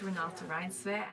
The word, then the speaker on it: Renata Reinsve: She has a video of her pronouncing it. Hello, my name is Renata Reinsve.